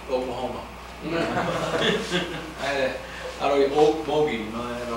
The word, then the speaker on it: Okmulgee: doing some modifications to a lock on Lake Okmulgee, I believe is how you say it. Did I say that right? I don't have it yet. Okmulgee. Say it again. Lake Okmulgee.